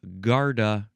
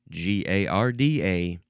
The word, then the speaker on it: garda: The first word is garta. G A R D A.